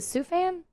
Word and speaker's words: Sufjan: Is it Sufan? I think so. Sufjan I was Stevens?